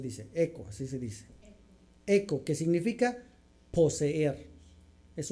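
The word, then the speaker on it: ἔχω: s Cómo se dice eco así se dice eco eco que significa poseer es un verbo posesivo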